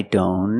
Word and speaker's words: don't: don't a lot of times the T and don't is silent examples I don't know and I don't care I don't know if you link the sounds I don't know link the N with the other N